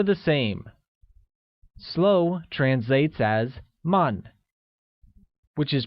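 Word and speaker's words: 慢: same slow translates as Mun which is pronounced using a falling tone once again it is Mon great note that one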